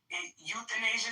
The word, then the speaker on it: euthanasia: Euthanasia? I can't pronounce that. Euthanasia, so the E is silent.